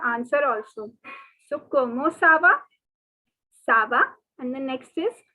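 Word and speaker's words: ça: como cuomo so como next two words are saba please note it is not kava okay it is not ka it is sir so the whole question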